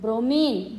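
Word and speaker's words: bromine: ब्रोमीन। ब्रोमाइन नहीं पढ़ते बेटा उसको, ब्रोमीन।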